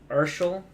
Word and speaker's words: Urshel: Urshel, like as in Marshall. Oh, Okay. okay. Like Herschel.